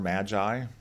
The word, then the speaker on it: MAGI: adjusted gross income or magi so it's not the three wise men but that is the acronym that's how people pronounce it what happened was prior